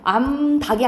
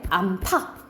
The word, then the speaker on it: 암탉: 이게 왜 그러냐면 우리가 옛날에는 암힛 수힛 이렇게 썼었어요. 그러니까는 암 플러스 개가 되는 거잖아. 그치? 그 히읗과 기역이 합쳐져서 키읔 발음이 된 거야. 그래서 결과적으로 어떻게 됐다 이 말이야? 암캐가 됐다라고 생각하면 돼. 그래서 암병아리가 아니고 암평아리 이렇게 되고 암닭이 아니고 우리 암닭이라 해? 암탉.